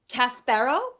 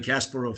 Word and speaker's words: Kasparov: a political activist Gary casparo is that correct Gary Katz pero do I say yes that's a Russian pronunciation though that though in America they often say Gary Kasparov so on that's why